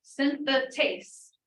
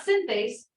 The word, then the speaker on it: synthetase: with acyl COA synthetase oh syntha taste not synthase synthetic taste what does that tell us that extra syllable in there it requires ATP